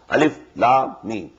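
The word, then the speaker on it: الم: These are pronounced separately, and so they are the broken into pieces. Not pronounced as Alif Lam Mim Alam, no. Alif Lam Mim.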